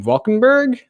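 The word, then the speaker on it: Van Valkenburgh: And also we're also having Peter von Valkenburg, is that how you pronounce his last name, on the show tomorrow. You're muted. On the nailed it.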